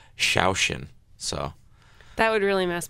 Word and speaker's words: Saosin: would get really mad it says say ocean well it says this yeah so sometimes i'll throw them for a loop say yeah i'd say ocean but i mean the the phonetic pronunciation is actually like shaoxin so that would really